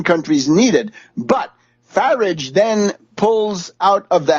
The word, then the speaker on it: Farage: And we know that Grillo has sealed an alliance with Nigel Farage, rhymes with wreckage or garbage.